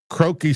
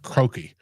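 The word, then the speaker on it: Croke: It's the first ever game in Dublin, Ireland at the renowned and very ancient Croaki Stadium. I think it's pronounced Croaki. It's C R O K E, which was built originally in like 1886.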